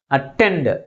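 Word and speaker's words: attend: ఉన్నాయి two syllabus ఉన్నాయి which is pronounce with the greater force second one is pronounce with greater force comparing with first one హౌ యు are this word అటెండ్ అటెండ్ ఇప్పుడు దీనికి ఐ వి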